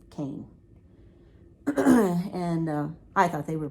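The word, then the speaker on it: Koehn: called cane manufacturing and it's not spelled like cane it's spelled like k-o-e-h-n which i would almost say cone but it's cane and i thought they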